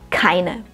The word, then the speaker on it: keine: auf die Aussprache beachten das erste Wort beginnt mit einem plusiven Konsonanten das wissen wir schon keine keine dabei solltest du wie bei allen plusiven Konsonanten etwas Luft ausstoßen keine das Wort Ahnung ist